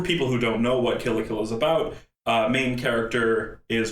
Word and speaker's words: Kill la Kill: The name itself, the name Kill la Kill itself is a pun. Okay. The word kill, the English word kill when pronounced in Japanese is kiru, which based on